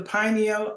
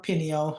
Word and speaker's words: pineal: nose these two glands both the pineal or pineal however you want to pronoun pronounce it and the pituitary